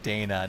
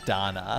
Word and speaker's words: Dana: and thank you for that is that I mispronounce the name of the game and its lack of mosa of Dana not Donna here's the thing so here's the thing technically